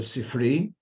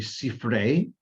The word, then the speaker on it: Sifrei: In Yiddish, it's called the Sifri. The more correct pronunciation would be Sifrei, and the full word term would be Sifrei Deveirav or Sifrei Deveirav.